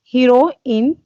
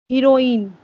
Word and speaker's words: heroin: now yeah hero in hero in and heroin okay those two words are pronounced exactly the same according to the cambridge dictionary okay okay okay so